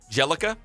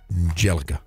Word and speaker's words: Bjelica: his name say it it's nemanja bjelica jelica jelica na manja joka his thirst with a bee right yeah the be silent be a silent I know that's like